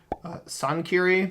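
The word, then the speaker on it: Çankırı: We've got Karabakh, or I think that's pronounced actually Sankiri because the C with like the little facade symbol is pronounced usually with like an S sound.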